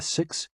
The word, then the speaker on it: si: associated with the heart s i pronounced like sir with a slow exhale